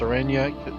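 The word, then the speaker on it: Oranje: Orenya is pronounced Orenya.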